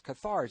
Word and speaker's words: Cathars: it now the catheter is that how you pronounce the qatar stars cathars yes yeah i really enjoyed reading catharsis is